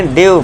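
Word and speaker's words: dew: फिर next six देखिए जब वर्ड में ई के बाद डब्ल्यू आए तो ई डब्ल्यू को आपको फ्यू से पढ़ना है। देखिए डी ई डब्ल्यू इसे क्या पढ़ेंगे? ड्यू माउंटेन ड्यू आपने सुना होगा। ड्यू।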